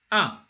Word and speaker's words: un: It is not a definite article, it is an indefinite article, and it is pronounced un. When you say, for example, when you're saying 1 2 3, you say un deux trois.